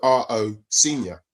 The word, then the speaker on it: Rosenior: And I go, R-O Senior. So then people started to say, "Oh, it's Rosenior," and I was over 40 years ago, by the way.